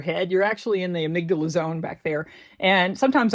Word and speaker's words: amygdala: But then we have the alarm system, and that's the amygdala. I call her Amy. Amy G. Dalla is how you would spell it. Amy, middle letter G, D-A-L-A. The amygdala is kind of like